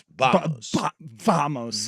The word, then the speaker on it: vamos: said Bob vamos well it's B vamos V is pronounced like a b spitting all over this